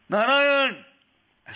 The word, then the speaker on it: Narayana: Narayan! As soon as he said Narayan, 4 Vishnudutas came, because Narayan has 4 syllables, Narayana.